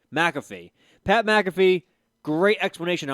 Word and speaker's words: McAfee: McCaffrey? McAfee.